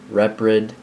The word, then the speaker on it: Reprid: So, hello, my name is Eric Reprid. R-E-P-R-I-D. Not Reprid, not Reprid, not retard, Reprid. This is exactly how it's spelled.